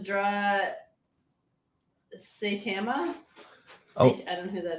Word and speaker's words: Saitama: Oh, Oh, it's, so it's and it's pronounced Saitama.